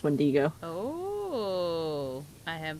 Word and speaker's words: wendigo: Beast there's that dude you mean the windigo as pronounced when Diego oh I am pronouncing